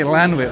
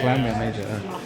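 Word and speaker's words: Llantwit Major: I always say Lanwit all the time. Clan, yeah. Lan. Oh, yeah, it's Clan, isn't it? Yeah, Clanwit Major.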